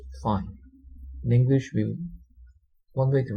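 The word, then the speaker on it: phi: it's it's a Greek letter um and it's pronounced fine English we one way to write it is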